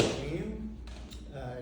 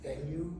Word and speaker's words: Vu: again first name is V uh it's pronounced Vu not venu or hey you um